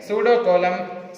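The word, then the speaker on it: pseudocoelom: Here P is silent. Pseudocolum.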